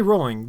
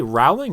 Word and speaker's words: Rowling: Wait, did you say Rowling or Rowling? Rowling? I say Rowling. Oh, so you're not pronouncing names correctly. It's like Skid Row.